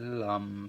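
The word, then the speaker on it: lam: I've never done chanting before, but I chanted the Lum sound whilst focusing on my root chakra, and I think that's a Buddhist chant. The sound is spelled L-A-M, and it sounds like And actually, after doing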